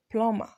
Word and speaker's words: plumber: some things to you there are a number of words with silent B in English so we have womb thumb comb climb plumber bomb in all of these words are more the B is silent so you're going to